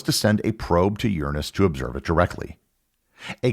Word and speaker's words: Uranus: of the flyby that the accepted pronunciation of the planet changed from Uranus to Uranus it was mainly because astronomers and television house didn't want to be subject to weeks worth of childish jokes as they reported on